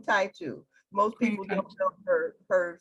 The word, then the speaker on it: Taitu: I'm not familiar with Titu. How do you pronounce that, Mother Tendai? I spelled it incorrectly. It's Queen Taitu.